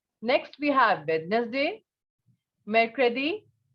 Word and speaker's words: mercredi: Mercredi. Mercredi.